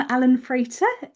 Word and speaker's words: Allan Frater: So welcome Alan Frater. Have I pronounced that right?